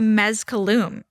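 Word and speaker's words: Mezcalum: Let's talk about mezcaloom. Yeah. Is that how you pronounce it? Mescaloom.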